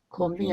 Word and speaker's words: comb: 콤빈이 아니고 콤, COMB. MB로 끝나는 말은 B가 묵음이에요.